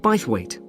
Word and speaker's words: Bythwaite: held in bythwaite Hall sorry how do you spell that b y t h w a i t e bithwaite is it easy to find I'm not very